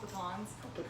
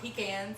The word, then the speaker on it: pecan: friends of louisiana pecans that's what i call them pecans not pecans they're not pecans here we go we're